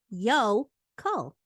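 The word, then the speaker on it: yokel: spelled y o k e l and it's pronounced yo Co it's a noun defined as a bumpkin or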